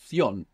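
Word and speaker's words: ción: n in Spanish and this c i o n is pronounced like an s in most of the Spanish speaking world or in most of Spain it's pronounced theion so you can choose if you have a particular affiliation for Spain you can make this th if not I uh suggest using the so sound because the majority of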